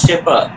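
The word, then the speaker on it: shepherd: এইবার একটা মজা আচ্ছা একটা ভুল উচ্চারণ হয়েছে ওটা শেফার্ড হবে না it should be pronounced as শেফার্ড যেমন আমরা জিএইচওএসটি কিন্তু ঘোস্ট বলি না বলি ঘোস্ট শেফার্ড এবার দেখো একটা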